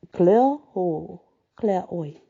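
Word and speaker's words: Clairoix: Another was camped at Claroix, a couple of miles above the raised road. It's actually pronounced Claroix, but it does have an X on the end, but the X is silent.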